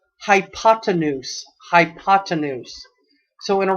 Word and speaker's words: hypotenuse: has the longest name, and that word is pronounced hypotenuse.